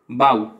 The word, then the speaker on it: bow: देखो BO से बा और ऊ, OW यहाँ पे आऊ की आवाज दे रहा है।